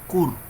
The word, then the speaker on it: kur: La pronunciación sería kur, que significa montaña.